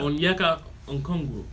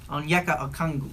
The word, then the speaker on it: Onyeka Okongwu: A couple How you pronounce that name? Onyeka. Onyeka. Onyeko. Onyeka. Onyeka Okongwu. Onkongu. Onyeka Okongwu.